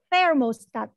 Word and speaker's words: thermostat: thermostat thermostat saklar thermostat ini ada huruf t sama Ha berarti pengucapannya lidahnya itu seperti terselip diantara gigi bawah dan Gigi atas kayak gini thermostat yang zoom mungkin bisa